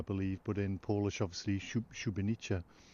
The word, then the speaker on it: Szubieniczne: to a place called, be kind enough to pronounce it please in Polish, Szubienica. Szubieniczne. And in German this was known as Galgenberg, I believe, but in Polish obviously Szubieniczne.